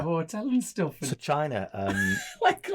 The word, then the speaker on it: Chyna: And So China, like notes, and he's like, great. Is that a name, China? China's quite China, China, but it's spelled CHY. CHYNA.